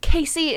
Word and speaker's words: Casey: mind it keeps flip-flopping her name is Casey like Casey is the correct way to pronounce it but sometimes I might call her Cassie and I do I